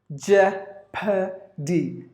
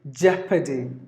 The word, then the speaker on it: jeopardy: three syllables in this world in the first syllable stressed jeopardy jeopardy but in the American English the the letter